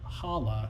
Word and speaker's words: challah: since you asked uh challah challah is how you say you said docent docent